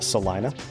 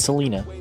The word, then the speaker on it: Salina: Um, us defending champion, Salina. Okay. Not Selena.